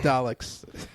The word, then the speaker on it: Daleks: is like he's got a history with the Daleks. That's the history. Like that's tangentially much. That's like kind of like you need. Don't get me wrong. I'm not saying there's not more to it. No, it's Daleks.